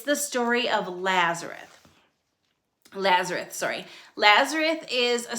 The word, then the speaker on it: Lazarus: story of this person named Lazarus Lazarus sorry Lazareth I keep saying his name wrong it's not La Lazareth it's Lazar okay here we go a man named Lazarus who is living in Bethany became sick Bethany